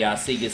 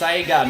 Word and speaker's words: Sega: It's pronounced Sega, not Sega.